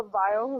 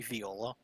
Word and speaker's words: viol: A viol is essentially a violin. Ah, Isn't it supposed to be viola? No, it's spelled viol. V-O-L. There's no A at the end. Yeah, it's not a viola.